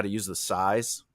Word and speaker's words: psi: SAI, like sigh. sigh.